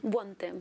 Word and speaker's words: Buontempo: Is that how you pronounce it in Italian? Buontempo.